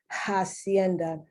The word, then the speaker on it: hacienda: whether from hacienda where in spanish you don't pronounce the h in english you do say hacienda uh directly from spanish